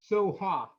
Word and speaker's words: Soha: Soha. That's the Polish pronunciation.